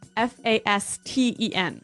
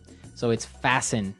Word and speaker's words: fasten: interesting yes it's spelled f a s t n right so it would be Fast N no no right fasten fasten the T kind of becomes silent M so it's fasten yep okay let's look